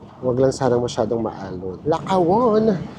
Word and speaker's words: Lakawon: Lakawon. Here we come. Yun pala yung pronunciation na naririnig namin. Dapat mabilis.